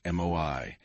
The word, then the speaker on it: moai: The most extraordinary example of this is the Okinawan moai, pronounced MOI.